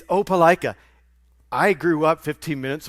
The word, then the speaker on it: Opelika: It's not pronounced, how did you pronounce it? Opelika? It's Opelika.